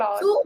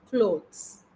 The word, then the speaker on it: clothes: pronunciation is or, but when it is plural, it is clothes. It's not cloths. Okay. That there is a Clothes.